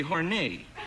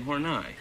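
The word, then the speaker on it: Horneigh: The French pronunciation would be Horney. Yes. H-O-R-N-E-I-G-H. Horney. Yeah. Mm-hmm. Yes. But for American consumption, it became Horney.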